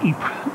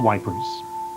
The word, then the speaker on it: Ypres: in the town of Ypres in southern Belgium commemorates the thousands were marched past this point to the front to die in a place they couldn't even pronounce - they an EP was wipers they had come from